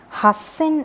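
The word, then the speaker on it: 八千: what that means and it's going to be pronounced as Hassan in half in okay one interesting usage is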